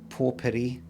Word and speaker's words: potpourri: It's fucking potpourri. That's how you pronounce it.